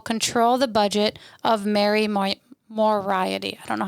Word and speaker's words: Moriarty: and it will control the budget of Mary Moriarty. I don't know how to say her name. Moriarty.